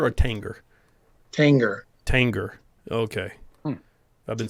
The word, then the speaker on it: Tanger: know i feel like in order for the g to be a soft g there would have to be an i after it so like tangier but tanger i feel like you